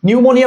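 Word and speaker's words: pneumonia: এই দেখো নিউ, এরপরে মো, এরপরে নিয়া, আসলে এটা কারেক্ট মনে হয়, কিন্তু এটা কারেক্ট না। কারণ এই দেখো এটা কি, এটা নুই মনে, স্যার এটা না হয় বাদ দেওয়া যায়, যে এটা আসলে না, কিন্তু দেখো এই যে পি, অর্থাৎ নিউমোনিয়া বানানে প্রথমে পি আছে, এটা তোমাকে একটু মাথায় রাখতে হবে। তাই দেখো এই যে নিউমোনিয়া,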